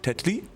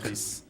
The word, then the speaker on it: Tetris: No, we do pronounce the S. Oh, heck. Tetris.